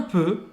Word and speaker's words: peu: Então aqui o peu vai ser a mesma pronúncia do je, eu, tá Peu, bom? je. Vai ser, faz a boca do O e fala E.